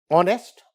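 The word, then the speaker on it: honest: हैं इज it clear but ऑनेस्ट ऑनेस्ट इज not starting with the वल but this H is silent and इट इज a sound वल like sound an ऑनेस्ट मैन यहां प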